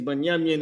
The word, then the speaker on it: Binyamin: Their name is Binyamin in Hebrew, and that's how you pronounce that.